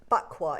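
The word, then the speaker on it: Baqua: It's a bqua. It's spelled B A Q U A.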